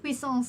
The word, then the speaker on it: puissance: basically just Puissance is the one that I don't know how to pronounce as an English speaker. Puissance. Puissance. however, Puissance. puissance is an acceptable pronunciation.